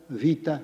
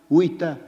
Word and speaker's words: vita: We have that common Latin tag done from the Greek of course ars longa vita bravis or as I suppose you ought to pronounce it wita brais.